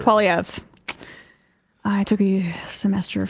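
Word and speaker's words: Poilievre: Republicans and treat Pierre PF I hope I said it right this time like they do the cfpb I think it's you're it's PV I'm pretty sure PV I took a semester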